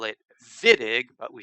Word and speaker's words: Wittig: don't speak german but in german w is pronounced v so that's why we call it vitig but we spell it